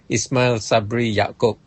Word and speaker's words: Ismail Sabri Yaakob: Can you pronounce his name properly? ISMAIL Sabri Yaakob.